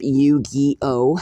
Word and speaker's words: Yu-Gi-Oh!: I absolutely worship Yu-Gi-Oh! It's actually spelled Y-U-G-I-O-H, and it's pronounced like so.